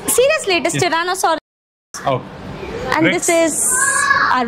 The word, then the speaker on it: Tyrannosaurus: please say it correctly it's seriously it is Tyrannosaurus oh and this is a Rex sorry whether